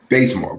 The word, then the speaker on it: Bazemore: Bazemore, great.